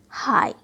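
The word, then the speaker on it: high: और कभी ये जी एच साइलेंट भी हो जाती है, जैसे हाई, बॉट, दो।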